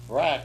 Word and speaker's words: Barack: Barack, whose name rhymes with hijack, hijacked our government, at least for the time being.